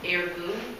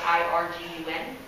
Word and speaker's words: Irgun: This group split off into another group called Irgun, which is spelled I-R-G-U-N.